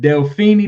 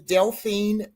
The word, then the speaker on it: Deline: And is it Delini? Did I pronounce that right, Queen? No, but that's okay. You're not the first. Uh, my name is Deline.